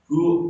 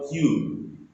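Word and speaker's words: 九: 9, ku atau kyu.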